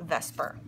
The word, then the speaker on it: VSEPR: okay that's per be I know it's the SE but it's pronounced ves okay valence shell electron